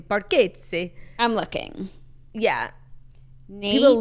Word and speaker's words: Bargatze: SNL plane skit, Nate Bargatze. Who's Nate Bargatze? Such a good question. That's definitely not how you pronounce his last name.